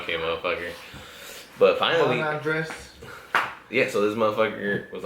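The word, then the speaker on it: Andrés: His name's, I can say his name, Andres. Andres, yeah, there you go, that's his name. Because they always give me shit like, "Well, what do you say his name is, Caesar?" Like, Andres. Like, it's Andres. Oh, Andres?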